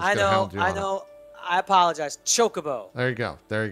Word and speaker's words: chocobo: or people are I don't know I apologize chocobo there you go there you go shoka bow